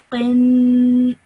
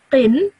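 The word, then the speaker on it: قٍ: So when I pronounce this, I need to stretch that nasal sound out for 2 seconds. So I would say this as qin. Okay, so I wouldn't say qin.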